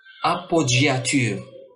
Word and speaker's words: appoggiature: Dans certains mots empruntés de l'italien, on trouve un G double qui se prononce G, comme dans appoggiature.